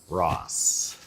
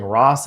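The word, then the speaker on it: Ra's: original like there's a there's a whole thing about it was RA R when it became re okay re re Al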